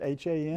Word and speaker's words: Han: I guess that's the way you pronounce it, H-A-N?